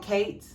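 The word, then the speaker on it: Ciaté: from i feel like it can be called kate but it's spelled c-i-a-t-e london nf watermelon burst hydrating primer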